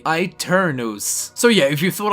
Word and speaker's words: Aeternus: would have called this e turnus but no it is actually an Italian word derived from a Latin word which is exactly the same and pronounced really strangely I turn those so yeah if you